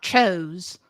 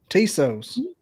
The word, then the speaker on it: Tso: chicken like TS o it's not chos I look I barely speak English I am out in the appalachin mountains and I can say it right okay okay you schooled me I get it tsos t the tsos chicken we want the tsos